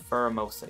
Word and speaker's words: Pheromosa: Pheromosa. Yes, I am right. Okay. I can never pronounce that thing's name.